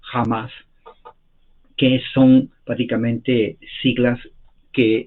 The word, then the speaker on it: Hamas: Número uno, lo que aconteció con Israel ayer por el grupo terrorista islámico con H se pronuncia con J, Hamas, que son prácticamente siglas que en árabe significa el partido de Dios.